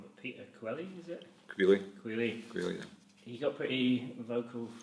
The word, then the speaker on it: Queally: you, but like, I don't know how to pronounce his name, so apologies if I get this wrong, but Peter Queally, is it? Queally, yeah.